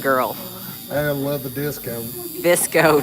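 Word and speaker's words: VSCO: Visco, not disco.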